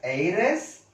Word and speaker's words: heiress: H silent is there. H silent. Dash our. Dash honor. Dash air. Dash heiress.